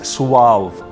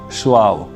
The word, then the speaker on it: suave: This is pronounced as suave. That's the pronunciation, suave.